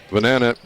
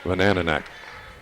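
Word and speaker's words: Vyhnanek: That's Vanananek. I'll get it right eventually. Vanananek. It's spelled V-Y-H-N-A-N-E-K. Now you know why I'm having trouble with the pronunciation.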